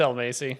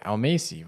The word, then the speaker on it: Almasi: It's Almasi. Yeah, Almasi.